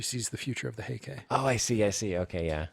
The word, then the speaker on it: Heike: Kanji, Taira, Kanji, clan, put together, it's pronounced Heike.